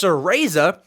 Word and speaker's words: Cereza: I have written down how to pronounce that. Sereza. It's Cereza and the Lost Demon.